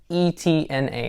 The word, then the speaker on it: Etna: E-T-N-A, however you pronounce it, or however the Italians pronounce it.